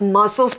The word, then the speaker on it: muscle: it's spelled mus CL e muscle that C and s combine their together to make the same sound now a muscle is